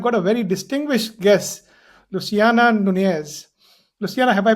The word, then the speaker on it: Luciana Nunez: Ash podcast and today I've got a very distinguished guest, Luciana Nunees. Luciana, have I pronounced your name correctly?